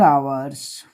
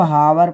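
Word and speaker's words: hours: यहाँ लगेगा फॉर 4 आवर्स, 4 आवर्स। ठीक, कुछ बच्चे इसको हावर पढ़ते हैं, वो गलत पढ़ते हैं, यह साइलेंट है।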